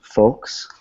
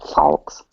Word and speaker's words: folks: in my head I I would spell it f o KES because that's how it sounds folks uh good okay